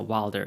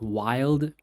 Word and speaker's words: Wilder: No, Wilder, yeah. I remember I pronounced it wrongly before, and people told me that his name is pronounced Wilder, so it should be Billy Wilder.